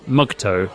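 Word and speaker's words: MGTOW: So, you mentioned uh Mugto, that's the acronym pronounced for men go their own way, which was a group in the early online manosphere that rejected men needing women by default.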